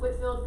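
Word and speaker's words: Whitefield: the great awakening george white the dog is pronounced whitfield because americans are sloppy with pronunciation okay was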